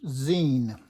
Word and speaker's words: zine: Let's fold this 11 by 17 in zine, pronounced z-e-e-n.